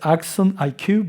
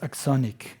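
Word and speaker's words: AxonIQ: And you have the Axonic, I have trouble to say, because it's Axon IQ, but they pronounce Axonic, I guess.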